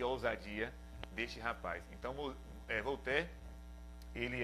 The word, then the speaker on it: Voltaire: Por exemplo, Volter, um filósofo muito conhecido, na verdade se escreve Voltaire, né, em português, mas se pronuncia Voltaire.